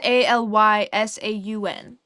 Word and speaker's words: Allysaun: Auntie Mary said Elysian. Elysian? Maybe? And then she said, I think Allison, but it's Allysaun.